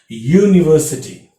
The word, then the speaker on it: university: you observe very carefully the sound of this u is not u sound it is y sound university okay so that's why